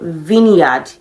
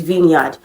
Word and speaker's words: vineyard: e is Vine but vineard v i n e y a r d is Vineyard okay you know vinegar right so it's vineard okay so option b